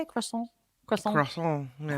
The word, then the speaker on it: croissant: Croissant. Yeah. Croissant. Croissant. You have to like have that like nasally.